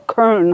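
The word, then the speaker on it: Köln: that place and we went to cologne or Kern how you say it in Germany so then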